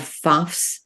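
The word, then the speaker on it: Pfaff's: probably the first Bohemian bar in America called fafs seller Saloon that's spelled p-f-a-f-f apostrophe s and Charles faf was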